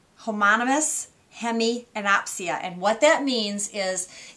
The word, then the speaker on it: homonymous hemianopia: do need to know this word and it's pronounced let me get this right homonymous hemianopia homonymous hemianopia and what that means is it is a